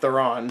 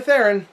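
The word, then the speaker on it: Theron: or Charlies Theon uh I might be saying her last name wrong I'm not sure but I I've always say said thoron so I'm going to keep saying it like that it's probably theen but it's Thon to me sorry sorry babe uh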